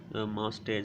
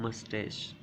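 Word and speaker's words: moustache: इसके बाद बहुत सारे लोग जो हैं गलत प्रोनाउंसिएशन बोलते हैं, मस्टैच बोलते हैं, कभी कुछ बोलते हैं। तो ये जो सही वर्ड है, प्रोनाउंसिएशन जो सही प्रोनाउंसिएशन है वो है मस्टैश।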